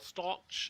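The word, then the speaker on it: Ustaloch: waters of the old stalch it's a germanic pronunciation u-s-t-a-l-o-c-h it's kind of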